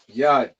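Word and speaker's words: יד: Yad.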